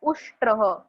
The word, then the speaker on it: उष्ट्रः: श एंड ट एंड र तीनों भी कंबाइन है. उष्ट्रह. जैसे आप हिंदी और मराठी में बोलते हो राष्ट्र, वैसे ही उष्ट्रह.